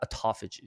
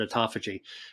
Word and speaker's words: autophagy: Before we go into the foods that increase the brown fat, what about autophagy?